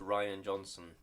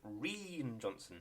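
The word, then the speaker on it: Rian Johnson: the record that um i know it is pronounced ryan johnson but whenever i see that name written down it just makes me think reen johnson rin yeah i know that's not his name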